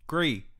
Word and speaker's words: Gris: It's not Gris. It is Gris. It is not. Pinot Gris. Motherfucker, it's Gris. It's French. Gris.